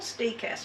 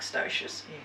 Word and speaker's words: Stoechas: And I'll have to mention, in all those varieties of lavender, there is a group called, it's called Steechas, but it's spelled Stoechas, looks like stoichus.